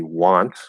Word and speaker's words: want: It could be pronounced something else, like maybe want. So want is pronounced ah, just like water.